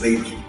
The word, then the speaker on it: Weber: La pronunciación correcta, de hecho, es Weber.